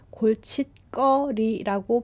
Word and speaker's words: 골칫거리: 그리고 디귿 소리 뒤에 기역이 오면은 더블 컨소넌트로 바뀌는데요. 그래서 발음은 골칫거리라고 발음합니다.